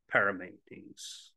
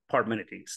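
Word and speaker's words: Parmenides: the principle of a parametes is that how you say it armenides parminities thank you I was like that did not sound right being is that which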